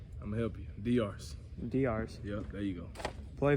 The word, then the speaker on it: Diarse: Is that how you pronounce it? I'm gonna help you. Diarse. Diarse.